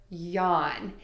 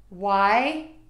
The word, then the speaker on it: yawn: This letter is silent and you do not pronounce it.